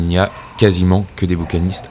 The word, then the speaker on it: bouquinistes: vous le dire mais ça se prononce bouquinistes ouais il n'y a